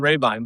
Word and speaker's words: Rabine: It's more more people pronounce it rabbine than Raybine. But Raybine is the correct pronunciation, but it's I I